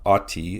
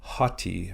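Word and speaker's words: ὅτι: have this word hotti so it's not ATI it's hotti you add a rough breathing or an H sound at the beginning of the word and this word means since or because so note the addition of the H sound at the beginning of the word like in the word hat so it would be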